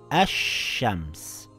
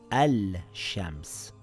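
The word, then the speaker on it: الشمس: Now it reads ash-shams and not al-shams. The sheen is doubled. I didn't read ashams, I read ash-shams with two sheens.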